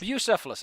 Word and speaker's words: Bucephalus: Bucephalus, I was right.